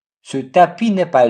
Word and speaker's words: tapis: Ce tapis n'est pas long. Tapis, silent S.